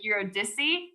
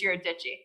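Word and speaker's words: Eurydice: me on my pronunciations i actually did used to say it like eurodise but i was actually corrected by a manager at lowell observatory who said it's your digi so you know what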